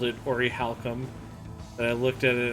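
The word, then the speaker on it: Orichalcum: Was I the only one as a kid who used to call that like Auriclium?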